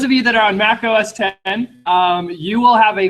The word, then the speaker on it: Mac OS X: machine are you running Mac OS 10 not pronounced X if I so it's